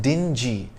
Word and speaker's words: dingy: to be confused with dingy with a soft g which means drab and gloomy such as in the